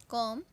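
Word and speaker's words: comb: में याद आ जाए सबसे पहले हैं कॉम इंग्लिश में spelling C ओ एम बी कॉम इसमें भी साइलेंट होता है और इसे कहते हैं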